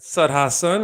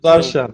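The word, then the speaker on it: Sudharsan: You had Sud Hassan. Is that how you pronounce that? Sud Hassan with Sudarshan, 22.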